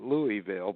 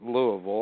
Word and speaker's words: Louisville: with when people read it they call it Louisville but you're right they pronounce it Louisville I was born there and my dad actually